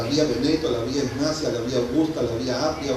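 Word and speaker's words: Egnatia: Se escribe pronunciar la vía Ignacia.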